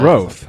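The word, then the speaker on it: Groth: keep tossing around because his last name is grot spelled g-r-o-t-h and nobody is gonna know how to pronounce that's growth yeah exactly my last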